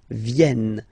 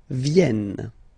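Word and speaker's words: viennent: like e e okay so remember this classic ending n for the third person of the plural is here but phonetically doesn't exist so you don't pronounce it ven ven okay ven all right so let's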